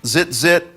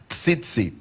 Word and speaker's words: tzitzit: It's a fun word to try to pronounce. Some people trip all over it. I've heard zit. It has a visual I can't really deal with, But I've heard all kinds of things, but it's tzitzit.